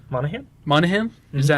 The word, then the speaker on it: Monaghan: I can't say her last name right for some reason, but Michelle Monaghan. Monaghan?